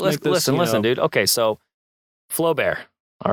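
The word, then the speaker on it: Flaubert: So, Flowbear. All right. Oh, yeah. Yeah. So, Flowbear and a letter A U. Is that how you say it? Flow bear. I don't know. It's Flow Bear.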